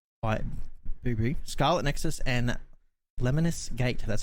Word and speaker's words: Lemnis Gate: but mighty goose fight booby scarlet nexus and lemonis gate that's how you pronounce that one that's covered by me um